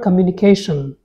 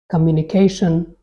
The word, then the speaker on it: communication: in standard English now this word has four syllables that means it is spoken in four parts in the primary stress falls on the second syllable let's see how the